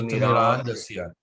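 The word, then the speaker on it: तिमिरान्धस्य: So you notice the first A is long and the others are short. So Timirandasya. Timirandasya. TH is pronounced as the or the. Timirandas. Dhas. Timirandasya. The H is pronounced. It's not dropped.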